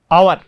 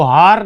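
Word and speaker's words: hour: और यहां पर आवर, इसको हार नहीं पढ़ने, आवर आवर, ठीक है, एच साइलेंट रहता है लगभग, इसलिए।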